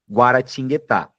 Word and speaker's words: Guaratinguetá: Eu tenho uma, duas, 3, 4, 5 sílabas em guaratinguetá. Tingueta. Então, acontecem duas semivogais, o U aqui em guá e o u aqui em gu.